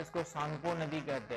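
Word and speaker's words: Tsangpo: फिर चाइना में चाइना के बाद कहां एंटर करती है आपके जो चाइना में तिब्बत में इसको सांगो नदी कहते हैं।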